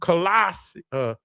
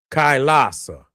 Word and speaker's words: Kailasa: This is it's Colossus. It's Colossus. Let me pronounce that right.